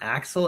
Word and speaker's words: Axel: Yeah, just Axel.